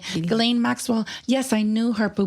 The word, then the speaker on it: Ghislaine: That's how you say her name, Ghislaine Maxwell.